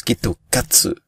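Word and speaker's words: きっと勝つ: C'est parce que le mot Kit Kat prononcé en fait phonétiquement en japonais donne Kitokatsu.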